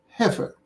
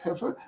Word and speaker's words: heifer: don't know the word heifer don't don't feel ashamed it's another rare word h e i f e r but the middle is not pronounced the way it is spelled so ever heifer is